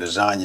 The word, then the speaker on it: lasagna: And then somebody explained to the person, well, the G in the word lasagna is silent.